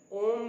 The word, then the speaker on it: ओम: अगर आप ओम के उच्चारण की गहराई को समझना चाहते हैं, जो 3 शब्द हैं अ, यू, म, इन तीनों को समझ करके ओम का उच्चारण का सही लाभ उठाना चाहते हैं, तो एक अभी